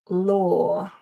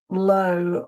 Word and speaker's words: law: But also and people often ask me about these sore law. So it's not low or low but law and raw.